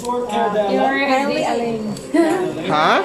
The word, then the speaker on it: Coeur d'Alene: Curly Lane.